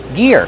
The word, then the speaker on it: gear: Gear. Use the hard G sound like gas and go, plus the long E, ear, like your ear.